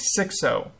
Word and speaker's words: Xixo: I was just informed right now that it's like Xixo.